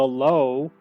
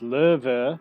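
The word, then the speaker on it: Löwe: this vehicle is the low uh it's pronounced liver it means lion this is a tier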